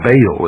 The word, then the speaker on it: Baal: For this is the only ancient portion, the beginning of the ancient worship of Baal, or Baal as some pronounce it. Ba was the sun, El means God.